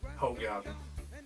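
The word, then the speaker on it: Hoegaarden: buff the whole garden give or take the pronunciation but round here we pronounce it whole garden i know that's reasonable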